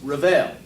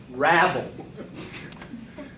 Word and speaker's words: ravel: unwound or fray and i apologize i mispronounced that so i'm going to give it to you again ravel we all make mistakes